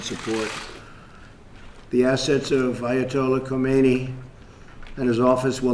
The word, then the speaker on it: Khomeini: The assets of Ayatollah Khomeini and his office will not be spared from the sanctions.